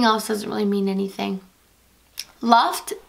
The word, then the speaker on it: Luft: Luft means air in German. So it's actually pronounced Luft. So I guess that does have a meaning.